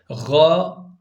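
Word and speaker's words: غ: sizinle birazdan paylaşacağım arkadaşlar gaa kalın bir harftir arkadaşlar zaten sonu A ile bitti size Dikkat ettiniz orada a ile bittiği için biz ona kalın diyeceğiz değil mi gayril o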